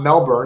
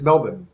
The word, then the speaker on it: Melbourne: he said it's not melbourne it's not melbourne it's melbourne and it's melbourne be